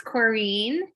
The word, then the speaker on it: Corinne: just to say it's corrine rhymes with your dream dream kareem thank you